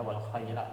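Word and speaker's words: الخيلاء: Kalau wal khuyala itu nggak nyambung, kurang nyambung.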